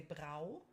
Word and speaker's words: Brau: So you would say if it doesn't have an umlaut, then you would say Brau, okay, like brew.